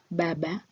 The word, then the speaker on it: Baba: and u in a the sound is pronounced as a as in father and have halfway towards but so example is Baba meaning a father a